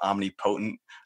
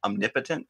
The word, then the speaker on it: omnipotent: You know, for years I thought omnipotent. It's omnipotent, but I didn't know any better, so I read it the way it was spelled.